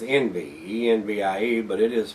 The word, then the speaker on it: Envie: And And it looks like it says Envie, e n v i e, but it is pronounced Envie.